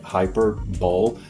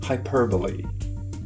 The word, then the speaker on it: hyperbole: The spelling makes it look like hyperbole, but it's hyperbole.